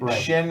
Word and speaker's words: shin: Or shin rhymes with chin.